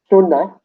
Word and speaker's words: suna: What is Suna, Can you spell that?